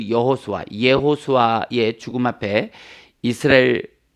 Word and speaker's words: 여호수아: 여호수아의 원 발음은 예호수아예요. 예호수아.